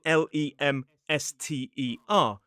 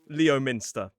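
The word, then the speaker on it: Leominster: In fact, it would be easier if we spelled it L E M S T E R. It is Lemster, not Leo Minster.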